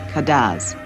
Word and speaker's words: Cadence: the Island's French pwa the music is spelled Cadence and called kadz Dominica lies between the